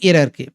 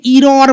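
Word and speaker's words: error: ওকে, তাহলে এখানে সঠিক করতে বলছে স্পেলিং এরারকে। অনেকে ইরর বলে, ইরর নয় কিন্তু প্রোনাউন্সিয়েশনটা এরার।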